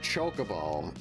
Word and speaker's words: Chocobo: But then, like, they said Chocobo. I was like, that sounds so bad. I think Kokobo sounds better, but I can't also dispute how they told the voice actors to pronounce the word. So I just had to take the L and pronounce it in a way I don't like.